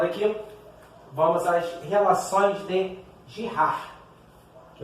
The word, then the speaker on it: Girard: Queridinhos, retomando aqui, vamos às relações de Girard, que é como se pronuncia ali.